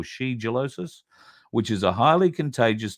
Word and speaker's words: shigellosis: Now, Brett Sutton says that cases of shigellosis, I think is how you say it, shigellosis or shigellosis, which is a highly